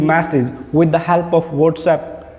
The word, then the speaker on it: WhatsApp: You say it WhatsApp. No, WhatsApp, right? I use WhatsApp I use WhatsApp throughout the day. I send and receive messages with the help of WhatsApp.